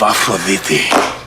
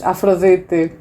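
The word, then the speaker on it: Aphrodite: all here to see the amulet of Aphroditi. He actually pronounced it the best. Aphroditi. He's probably Greek. He could be Greek. At least he had good pronunciation for the Greek words that were used.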